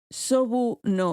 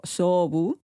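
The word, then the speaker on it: 菖蒲: cosa de que los lirios o sobu en japonés se pronuncia como valorar los asuntos militares. Sobu, misma pronunciación, diferente kanji, diferente ideograma.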